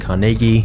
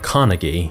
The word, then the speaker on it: Carnegie: the reason I'm saying Carnegie instead of Carnegie because this is how the Scots actually pronounce it but Andrew's starting life